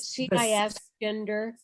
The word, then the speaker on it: cisgender: Is it CIS gender? Cisgender. Yeah, cisgender. And it's not a term that I know well enough to define, but I've heard it before, cisgender.